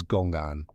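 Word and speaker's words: gōng'àn: It began in China centuries earlier as a word read aloud as gong'an.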